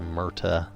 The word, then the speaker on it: Merta: If I'm saying it wrong, if it's supposed to be pronounced special instead of just Murta, let me know. But as far as I know, it's just Murta, M-E-R-T-A.